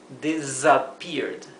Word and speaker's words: disappeared: Otra cosa más, disappeared. La s de disappeared es una sumbada, ¿verdad? No es una s suave, no es, es z. Desappeared.